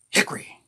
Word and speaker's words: Hickory: Got this one in the town of Hickory, North Carolina, which the people in Concord tell me you got to say it like this. Hickory.